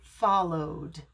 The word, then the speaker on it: followed: goes by the sound so follow o is a vowel sound so we would pronounce it followed followed let's practice some